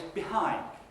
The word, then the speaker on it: behind: The second word is behind. Okay? So, this time, it's the second syllable, the hind bit, which is louder and longer than the other syllable.